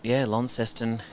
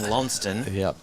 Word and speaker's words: Launceston: with the English, around how we here in Tasmania have added that extra syllable to what they have sort of southwest of England being Launceston, spelt exactly the same way, and we've been Launceston somehow. Are you what's the word I want?